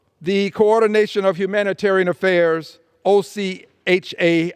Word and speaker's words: OCHA: coordination of humanitarian Affairs OC ha I will pronounce it Ocha says as of early